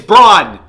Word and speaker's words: Braun: down whatever 17 20 Christian Braun Braun brown brown Braun it's brawn b-r-a-u-n what are you